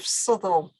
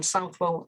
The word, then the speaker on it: Southwell: sanctuary marie de souela an early pronunciation of sutherl i think rather than south wall as some people would have right the white book